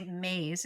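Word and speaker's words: Myss: There's a really amazing author called Carolyn I think you say maze. It's spelled MSS.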